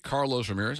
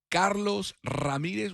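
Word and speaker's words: Carlos Ramírez: If you want the uh English pronunciation, Carlos Ramirez. I don't I could do both. Which one sounds better, D? Which one do you prefer, Danny? Carlos Ramirez when I roll my Rs or Carlos Ramirez?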